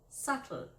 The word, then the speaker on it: subtle: he spoke to me romantically not romantically but romantically .silent B .please say that in a subtle way not subtle way but subtle silent G.